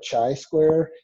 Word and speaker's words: chi-square: So in case you're wondering if you read the book already, it's not pronounced chi-square or chi-square, it's pronounced chi-square.